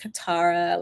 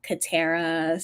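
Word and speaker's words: Katara: name people so um some people might say like qara like the Avatar The Avatar but it's actually like catara so I know it's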